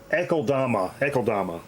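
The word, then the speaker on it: Akeldama: Ekeldama. That's an L, not an I.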